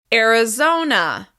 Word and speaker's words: Arizona: The stress is on the third syllable. Arizona.